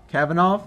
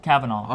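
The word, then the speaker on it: Kavanaugh: Supreme Court come van it van cabana something Cavanaugh Cavanaugh okay Cavanaugh great you know there's some sexual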